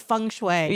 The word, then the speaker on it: feng shui: Fung Shui is it Fung Shui yeah yeah that's how we pronounce it in the Philippines its function way oh